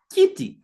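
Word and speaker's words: kiti: Kitty. Listen, I'm saying key. Kitty. Key. Kitty.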